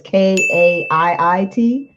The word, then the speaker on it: Kaiit: Her name is I assume it's pronounced Kate, but it's Kaiit.